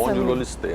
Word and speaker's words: espondilolistese: É a espondilolistese. É isso mesmo, né, doutor Flávio? Obrigada por ter vindo. Muito obrigado, bom dia. A pronúncia é essa mesmo, essa espondilolistese, mesmo.